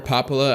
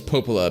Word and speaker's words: Popola: i keep calling her papala i mean to call her popola apparently her name is popola but it's spelled like papala i don't know hey